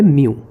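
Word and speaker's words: μ: इसको कहते हैं refractive index of a medium और इसका सिंबल होता है ये, जिसका प्रोनाउंसिएशन होता है म्यू।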